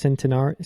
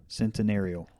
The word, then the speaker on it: Centenario: Centenario? Centenarial. Centenarial. There's no L in there.